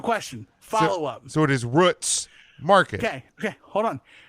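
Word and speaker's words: Root's: what is the name they pronounce their name root okay okay so I have a question follow-up so it is Roots Market okay okay hold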